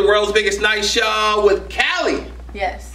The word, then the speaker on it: KALIII: biggest night show with Cali yes how you doing I'm doing great how are you I'm pretty good I just you gotta say my name though like Cali Cali yeah hey I'm sure